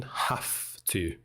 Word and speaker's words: have to: He's using the sense of obligation, have to. And it's a very clear F, not a V, it's a have to.